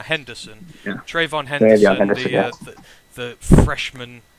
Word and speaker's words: Henderson: So obviously with the appearance of Trayvon Hendrickson? I'm getting the name wrong, aren't I? Henderson.